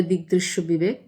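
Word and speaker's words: দিগ্দৃশ্যবিবেকঃ: যদি যথার্থ উচ্চারণে বলি আর বাংলায় বললে দিকগদৃশ্য বিবেক। কিন্তু আসল উচ্চারণ দিকগদৃশ্য বিবেকা।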